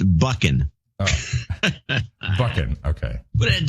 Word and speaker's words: Buchan: It's Scottish, so it's a bit of throaty Dutch-German. Buchan. Oh, that sounds Scottish. Buchan. Not Bushin, as my English cousins tend to say.